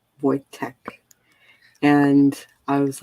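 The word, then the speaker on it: Wojtek: i used to know uh voytek is it's w o y uh j t e k boy tech and i was like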